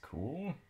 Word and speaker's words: KWL: KWL is pronounced the same as cool.